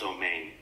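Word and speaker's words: אמן: Maharaj in Hebrew, it's pronounced Omein.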